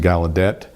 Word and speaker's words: Gallaudet: Another author I've published is Thomas Hopkins Gallaudet. Some pronounce it Gallaudet.